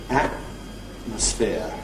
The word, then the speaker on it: atmosphere: Also, before nasals, if we have a word like atmosphere, certainly that's my normal pronunciation. I have a careful variant, atmosphere, but I don't normally say atmosphere with nasal release noise. I normally say atmosphere with a glottal stop.